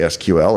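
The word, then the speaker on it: SQL: And that means maybe I say Seequel and you say S-Q-L.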